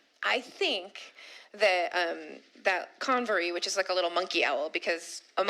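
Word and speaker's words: Convor: The Conv.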